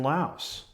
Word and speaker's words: Laos: I learned today from Jim Hafley that in fact we should pronounce the S in Laos.